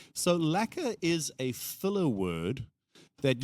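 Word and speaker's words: lekker: Cuz it from you I thought it was liquor, but you're sounds like you're saying it like lacquer. Lacquer. That's some of that is the accent in play. The word is spelled L E K R and that comes from Africans.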